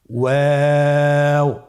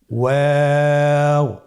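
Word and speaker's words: واو: আপনারা আমার সাথে বলুন ওয়াও ওয়াও। 2 ঠোঁট গোল করে মাঝখানে ফাঁক রেখে হরফটি উচ্চারণ করতে হবে। আপনারা আমার সাথে বলুন ওয়াও। আবার বলুন ওয়াও।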